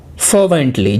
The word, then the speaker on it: fervently: बहुत चाहिदा वर्ड है, फर्वेंटली। जी हाँ, यहां पर भी पहले वाले सिलेबल पर जोड़ देंगे और प्रोनाउंसिएशन होगा फर्वेंटली।